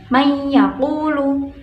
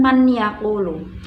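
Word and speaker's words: مَنْ يَقُولُ: Pada nomor 1 terdapat nun sukun bertemu dengan ya, maka cara membacanya may yaqulu, bukan man yaqulu.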